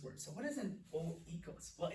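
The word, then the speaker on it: οἶκος: Okay, this is the word oikos. Oikos. Joy, I know. You're probably pronouncing it very differently in your head.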